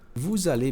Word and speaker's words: vous allez: Deixa eu ver novamente, ó, o S não é pronunciado, mas como tem uma vogal aqui, ele vai, né? Então vai ficar vous allez.